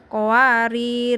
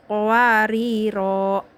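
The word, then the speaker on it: قواريرا: Jangan sampai salah, jangan qawarir, jangan gitu. Tapi dibacanya menjadi dibaca ketika waqaf, qawariro gitu. Ya, jangan qawarir saat waqaf, tapi qawariro, karena ini ngepasin pas banget saat waqaf di akhir ayat.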